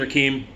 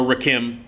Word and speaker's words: Rakim: uh let's see paid in full eric b and rakim uh from 1988 uh uh eric b and rakeem or rakim depending on how you want to pronounce it painful fantastic uh hip-hop